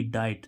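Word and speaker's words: diet: word बन गया तो डी आई टी डाइट तो यहां पर इसका उच्चारण क्या आ रहा आई डाई है तो डाइट डाइट मीस आर तो रूल क्या कह रहा है कुछ वर्ड में आई के दोनों स्वरों आई और ई का उच्चारण स्वतंत्र रूप से भी होता है तो वही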